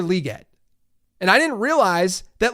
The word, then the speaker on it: Legette: I've learned that it's not Xavier Legette, it's Xavier Legette.